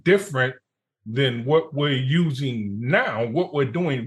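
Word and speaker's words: NAO: And the robot is called Now. And it is spelled N-A-O.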